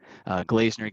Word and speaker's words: Glazener: Glazener gets pronounced incorrectly all the time, and I think glazed donut.